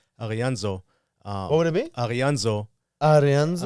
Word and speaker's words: D'Arienzo: I mean, it's like a D it's been Americanized. I mean, it's Italian. That's what I'm saying. It should be Dorenzo. That's what I'm saying. That's why I was But gonna say it like that, because I'm from Germany. It will be Arianzo.